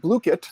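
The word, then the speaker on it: Blooket: So there's another tool called Bluekit.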